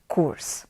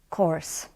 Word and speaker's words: course: pronounce this word as kurs, like in Polish we say kurs. And I know now that we pronounce this word as course, like of course.